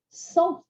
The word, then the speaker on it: cent: Cent is pronounced without a T at the end. Cent. So when you hear it, when you see it, you might expect the T to be pronounced, but it's a silent T.